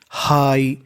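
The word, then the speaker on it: high: to meditation with with हाई एच आई जी एच यहां पे जीएच हमारा silent है इसका उच्चारण नहीं करना हाई हाई का मतलब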